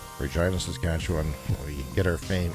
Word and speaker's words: Regina: we're probably more famous for our city rhyming with the word vagina regina saskatchewan we get our